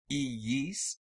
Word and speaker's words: iis: These double I sounds are not diphthongs, but two different syllables separated by a Y sound, iis, which is implied by the juxtaposition of the two I's.